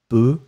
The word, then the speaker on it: peut: and it will be je peux, P-E-U-X, tu peux, P-E-U-X, and then il, elle peut, P-E-U-T. You pronounce them the same way, but still, you need to write it differently.